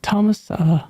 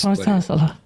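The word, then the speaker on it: Tomas Sala: You can pronounce it any way you want. It's Thomas Salah. It is. Thomas Salah.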